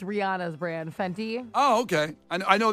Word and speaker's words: Fenty: It's spelled phonetically. Wait. Fe N T Y. Yeah, you're good. Fenty.